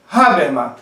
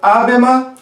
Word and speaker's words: Habermas: Na verdade, a pronúncia do HA não é nem no sentido de um H, nem no sentido de um R. Não é nem A, nem Ra. É um meio termo, tá? Que fica difícil para nós pronunciarmos dentro da língua portuguesa, a não ser que tenha um bom domínio do alemão. Então, nem é Habermas, nem é Habermas.